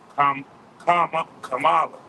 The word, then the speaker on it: Kamala: It's really Kamala. That's how you say it. That's really like an East Indian name if you think about it.